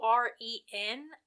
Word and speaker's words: Auren: It's Auren. I always, like, in my mind, I said, like, Auren, kind of like Lauren without an L.